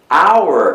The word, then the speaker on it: hour: rioman Beleza então Hauer hour é uma palavra que escreve com h temos H mas não se pronuncia esse h o h é mudo Isso é uma exceção